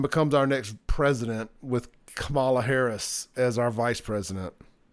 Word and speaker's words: Kamala: holds on and becomes our next president with Kamala Harris as our vice president. And I know that's not how she pronounces her name, but I'm from the South.